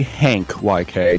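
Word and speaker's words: HCYK: way youd pronounce that it's supposed to be Hank YK to my knowledge yeah it's uh Hank like a hank I would hcore white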